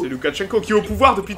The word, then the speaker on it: Loukachenko: Ils voulaient un petit peu se débarrasser du monsieur que vous voyez derrière Poutine, Alexandre, que je prononce bien son nom, Loukachenko. C'est Loukachenko qui est au pouvoir depuis très longtemps.